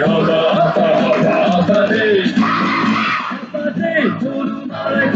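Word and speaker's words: Håfa adai: Just pronounce it as in half a day. Sing it with a beat and say it every day. Like hoppa day.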